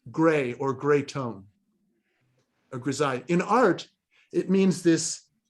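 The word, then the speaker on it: grisaille: it's a cool word it's called grazai and it's spelled like this reside it rhymes with the Palace of Versailles and in French it simply means gray or gray tone a grizzai in art it means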